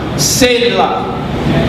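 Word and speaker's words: Selah: okay the rim say long that's how you pronounce it seyla okay an asylum set up so did step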